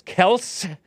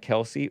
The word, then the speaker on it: Kelce: Not clear if the drama of the game going into overtime or the Taylor Swift Travis Kelce, not Kelsey, relationship. It can be Kelsey if you want.